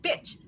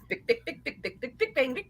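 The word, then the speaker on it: Bich: for their culture, is Bic Bang. Big Bang. Bic Bang. B-I-C-H. It's not bitch.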